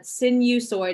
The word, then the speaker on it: sinusoid: this section it's called sinusoid so you read it like sin like in the Catholic church we sin you soid so it's kind of a weird word but sinusoid is how you say that and a sinusoid